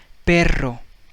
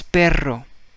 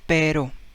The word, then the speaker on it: perro: make it you know you roll your tongue so that's what you need to make whenever you see double r abra so let's see